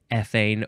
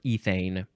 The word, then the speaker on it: ethane: group c2h4 derived from ethane or ethane and ethylenic or ethylenic